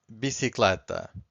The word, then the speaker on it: bicicleta: So universal means universal, teste means test, and the last one is bicicleta. Bicicleta. So once again, I'm stressing the second to last, and bicicleta means bicycle.